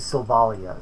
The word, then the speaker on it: Sylvalia: it's actually Sylvalia. So I'm gonna Sylvalia? yeah. So I mispronounced it.